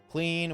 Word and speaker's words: Klein: it it's been like lowered ever so slightly clean.